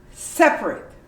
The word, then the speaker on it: separate: you say sef raw separate how about that this is a long word but you completely omit the a and you say separate separate temperature i know this